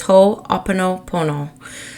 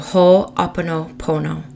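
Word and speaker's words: Ho'oponopono: practice it's shamanic in nature I'm about to butcher the name I know I am but it's whole Oppo Pono so whole Oppo Pono and the premise of it is around making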